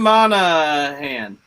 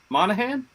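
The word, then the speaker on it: Monaghan: Cameron Monoghan. Monahan?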